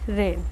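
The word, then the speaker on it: reign: 587 है रेन। रेन माने होता है शासन, the monarchs period of rules. शासन करने को हम क्या बोलेंगे, रेन। और जो इसमें जी है लेकिन जी इसमें साइलेंट है, नेक्स्ट जो रेन है वो है लगाम।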